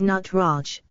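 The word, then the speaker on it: Nataraja: Shiva is known as the nataraj pronounced as nut Raj the word nut means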